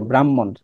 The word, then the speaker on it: ব্রাহ্মণ: নিচের দিকে সোজা টান ব্রাহ্মণ তো এখানে দেখো এটাকে ভাঙলে পাবা হচ্ছে হ যোগ ম কিন্তু উচ্চারিত রূপটা হচ্ছে ম যোগ হ ব্রাহ্মণে তুমি আগে কি